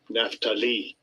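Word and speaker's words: Naphtali: what i'm beginning so i was trying to see how they pronounce his name here yeah so i guess i kind of was close to it there let's see what uh how they do strong's age 5321 naftali yeah naftali so yeah wrestling because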